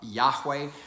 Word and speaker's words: Yahweh: come to um uh pronounce or guess that the way that is pronounced was uh uh Yahweh because Yahweh would be a third person uh uh form of that verb to be uh meaning he is or he who is